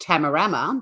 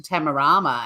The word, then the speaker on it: Tamarama: we're more English and we do it the other way. So I was like, oh, I had a great day. Oh, no, where are we going today? To Tamarama. And everyone lost their shit. And they're like, no, it's Tamarama.